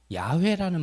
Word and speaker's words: 야훼: 히브리어로 가장 가깝게 여호와의 발음은 사실 야훼라는 말이 가장 가까운 발음입니다.